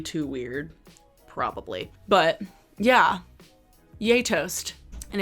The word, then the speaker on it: Gjetost: But yeah, Yay Toast. And it's spelled GJETOST.